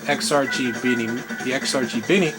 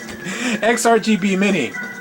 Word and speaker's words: XRGB Mini: I mean, you can use an AV converter and a lot of these other stuff like the XRG Bini. So I keep mispronouncing it. XRGB Mini.